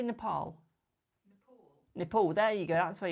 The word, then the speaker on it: Nepal: I see more Nepal.